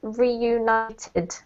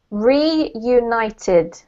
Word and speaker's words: reunited: And the last one is reunited. Can you repeat again, teacher? Sure. Reunited.